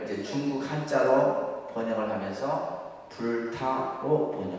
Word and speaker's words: 불타: 여기에다가 이제 이 글자, 이것을 뭐라 하냐면 불타라고 읽습니다. 그러니까 불타. 불타. 불타라 이렇게 읽어요. 우리가 읽을 때는.